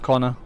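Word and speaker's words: Koana: his name is Conor it's written k o a n a but it's pronounced Conor Conor I will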